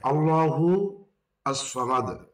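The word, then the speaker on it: اللَّهُ الصَّمَدُ: আস সামাদ উচ্চারণ বাংলায় আল্লাহু আস সামাদ মিলিয়ে পড়লে হবে যেটি একটু আগে বললাম তখন হবে আল্লাহুস সামাদ আল্লাহুস সামাদ আল্লাহুস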